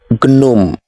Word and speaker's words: gnome: tea is silent next this is not gnome the first letter g is silent it is gnome the next one have